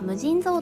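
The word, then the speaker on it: 無尽蔵: 掛け軸の言葉は無尽蔵と読みます。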